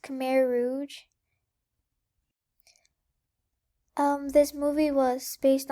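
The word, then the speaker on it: Khmer Rouge: have died during the Kim's R my bad it's pronounced K Rouge um this movie was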